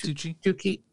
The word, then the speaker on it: Tucci: Is that how you spell it? It's Tucci.